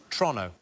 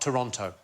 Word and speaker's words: Toronto: than it should be so it's trono not Toronto OH is it toron Toronto Toronto like as quick as you possibly can like it's a crime